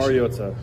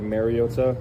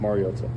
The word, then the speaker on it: Mariota: out this this What is the right pronunciation? Mariota. Um I think it's been said over the years like Mariota. Um which is incorrect and it's pronounced Mariota.